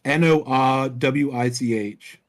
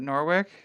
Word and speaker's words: Norwich: __ ] know James how do you pronounce it Norwick no way no Norwich Norwich no wage no is that like a witness no no no no it's it's it's around the UK it's pronounced Norwich but it ends in the CH James blame the [